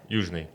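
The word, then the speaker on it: Youzhny: Michael Yuzhny, what's the Russian pronunciation? Yeah, Yuzhny.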